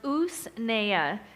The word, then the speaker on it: usnea: purchased and this is usnea It's u-s-n-e-a is pronounced us Naya and it is considered the top medicinal herb